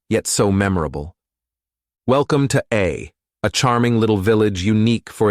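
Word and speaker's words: Å: Welcome to A charming little village unique for its extraordinary name. Pronounced simply as A, this town boasts one of the shortest place names on the planet.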